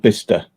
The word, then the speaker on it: Bicester: Which is spelled Bicester, but it's called Bicester because they can't speak.